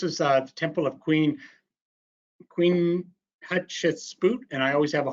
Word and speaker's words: Hatshepsut: And he goes, well, when you have a hard time doing it, just say Queen Hot Chicken Soup.